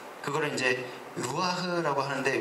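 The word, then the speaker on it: רוח: 아담한테 불어넣어서 생명이 된 그거를 이제 루아흐라고 하는데 뭐 원어 발음은 루아흐예요. 그래서 흐가 아니고 루아인데 거기에 이제 히읗 받침이 붙는 약간 그런 우리나라에 없는 발음.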